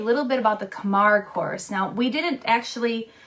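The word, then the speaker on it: Camargue: mammal the camp horse that's right is the Kamar horse Kamar horse so here is spelled Kamar horse s c a m a a r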